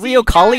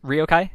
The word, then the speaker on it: riokaii: name because people were flaming me is it ryokai yeah ryokai is fine yeah that's fine i get rio kali a lot and i'm i'm okay with that